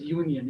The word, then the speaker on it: union: But this U letter is not producing the vowel sound ಅನ್ನು produce ಮಾಡ್ತಾ ಇಲ್ಲ ಇದು.